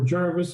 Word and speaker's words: Gervais: And Mr. Gervais, or Jarvis as it's locally pronounced, was an early settler, and that's the genesis of the name.